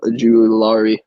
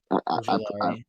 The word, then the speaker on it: Ojulari: Ajulari. Ojulari. I screwed up. Ojulari.